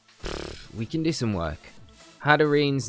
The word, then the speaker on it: Hatterene: on a Thursday, so we've got our first opponent, and they are playing a Copraja, a Hatterene, Hatterene is how we pronounce it, really.